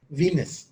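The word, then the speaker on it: Venice: यहाँ वीनस से ना एक कंफ्यूजन भी पैदा होती है, VENIC, वो इटली का एक शहर है वेनिस, उसको प्रोनाउंस करेंगे वेनिस, और जो गॉडेस है वो वीनस है।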